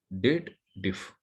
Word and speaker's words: DATEDIF: But here people always does the wrong pronunciation of formula. What they believe, there is a if logical condition is there. They read it as dated if.